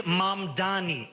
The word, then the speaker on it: Mamdani: The name is Mamdani, M-A-M-D-A-N-I. You should learn how to say it because we got to get it right.